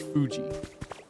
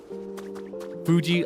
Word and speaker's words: Fuji: I can confirm that like the correct way to say it is Fuji. Fuji like Fujisan like the mountain which is why Mount Fuji is on the logo for Fuji.